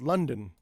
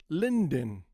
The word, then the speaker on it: London: Okay, so the next word is London. London. Okay, London. London. So you ask, hey Tommy, if it's O + N equals N, why is it not Lynen?